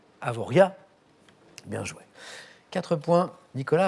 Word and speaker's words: Avoriaz: désignés par un dos dont on ne prononce pas le z final avoriaz bien joué quatre points